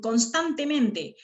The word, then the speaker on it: constantemente: En constantemente la sílaba tan y la sílaba men.